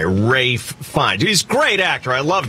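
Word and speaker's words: Ralph Fiennes: yeah dave is right when you're looking at the man's name spelled out it looks like it's ralph uh fiends viennas but his name is rafe fine and no one gets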